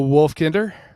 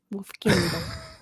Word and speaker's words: Wolfkinder: Wolfkinder. He's gotten a lot better about that. He has gotten better since he figured out it's pronounced more like kindergarten than kinder.